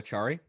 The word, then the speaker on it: Acciari: Noel Acciari.